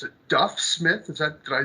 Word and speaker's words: Duff Smith: a special guest here Mr Smith it's a Duff Smith is that did I pronounce that correctly yes all right well today